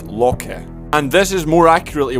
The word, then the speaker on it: Loki: First off, you'll know this guy is Loki, but his actual name is pronounced Loki.